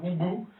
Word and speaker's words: Hubu: en en Allemagne donc c'est plutôt hubou mais voilà comme je suis français ça on va le prononcer Ubu alors qui connaît CDI